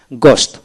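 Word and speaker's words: ghost: এখন আসেন এইচ উচ্চারণ হয় না এরকম জি এইচ ও এস টি গোস্ট, অর্থাৎ জি ও এস টি গোস্ট।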